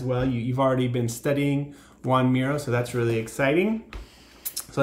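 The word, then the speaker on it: Joan Miró: man named juan but it's spelled different than you might expect juan miro oh yeah but it's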